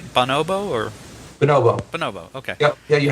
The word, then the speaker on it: bonobo: Bonobo.